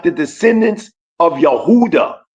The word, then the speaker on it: Yehuda: like the descendants of Yehuda or Huda which is the true pronunciation of Judah Mr.